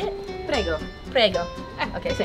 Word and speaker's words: Prego: Prego.